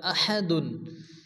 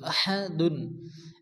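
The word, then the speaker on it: أَحَدٌ: হয় এখানে কি হবে পড়তে হবে এরপরে আহাদুন এখানে কিন্তু বড় হাসে অনেকে আছে আহাদ ছোট হা পড়ে আহাদ পড়া যাবে না পড়তে হবে আহা মুখ দিয়ে বাতাস বারে করে উচ্চারণ করতে হবে আহাদুন এখানে দালের উপর কি আছে দুই পেশ যদি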